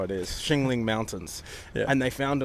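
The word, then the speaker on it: Qinling: searched up and it said Xingling. Chiggling. Xingling, it could have been racist, but I think that's how it is. Xingling Mountains.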